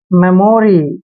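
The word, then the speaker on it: memory: एम का उच्चारण मैं करेंगे, ई को ए की मात्रा लिखेंगे और एम को मैं पढ़ना है, ओ को ओ की मात्रा पढ़ते हैं, आर वाई को री पढ़ते हैं, मेमोरी।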